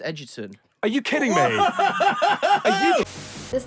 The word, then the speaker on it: Egerton: have a surname that's pronounced Edgerton.